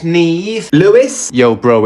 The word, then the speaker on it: Niamh: Niamha. It's pronounced Neve.